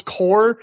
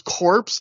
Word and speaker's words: Corps: of his own stable it's the No Remorse core not the No Remorse corpse because and then he goes